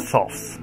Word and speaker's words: Thoth: And then there's a companion book like this for the Thoth Tarot. Or the Thoth, because you can pronounce it either way, believe it or not.